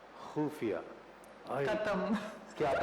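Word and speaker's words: ख़ुफ़िया: कर रही होती है, तो कैसे ख बोला जाता है, कैसे बोला जाता है प्लीज? खुफिया। खुफिया, खत्म। क्या बात है, खत्म। खाली। आपने खुफिया बोला, मैं तो खत्म हो ही गया।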